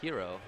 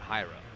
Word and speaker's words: Hero: out to people that my name is pronounced hero not hyro huh interesting and I